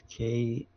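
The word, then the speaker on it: クソゲー: It's called kusoge. I think it's Kusoge, and it's pronounced kusoge, but it translates to like shit game, Okay.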